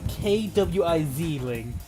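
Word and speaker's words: Quisling: and apparently I mean they pronounce k wi I zling so that's qu kwi i z quizzing I guess you forget that Q is a k noise honestly I didn't pass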